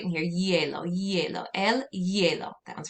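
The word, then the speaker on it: hielo: going to say el yellow so pretend like that h isn't even there and go right in here yellow yellow el yellow that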